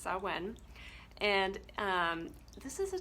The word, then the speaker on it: Samhain: pronoun the pronunciation of it so it is pronounced so when and um this is a time where the